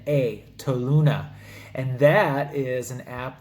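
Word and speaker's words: Toluna: make money on them there's an app called tow Luna I'll spell it out for you t o L u n a tow Luna and that is an app that you can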